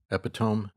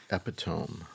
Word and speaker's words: epitome: Epitome. Those are both words. I don't think so. I think it's... Look it up. I'm pretty sure. Epitome.